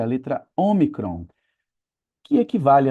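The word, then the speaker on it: ὄμικρον: Assim como nós vimos que tem um e curto e um e longo, tem também um o curto, que é o omicron, e um o longo, que é a última letra.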